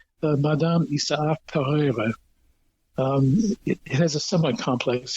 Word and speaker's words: Pereire: And my favorite rose is in that group, and it's called Madame Isaac Pereira. It has a somewhat complex history. but Madame Isaac Pereire is usually how you hear it pronounced here.